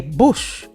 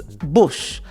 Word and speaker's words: Busch: these men, particularly Busch, which I have to say Busch, because that's the way you say it. So excuse me if you hear me say it like that. It's not Bush. Look at the spelling. It's Busch.